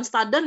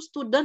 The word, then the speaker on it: student: kepada student atau mahasiswanya bukan staden ya itu student ya bacanya Bu cek di